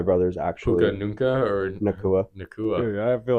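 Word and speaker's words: Nacua: Yeah, the Rams were honestly very impressive against the Seahawks last week, and Puka Nunca, or whatever the hell his name is. I don't know how to say his name. Nakua.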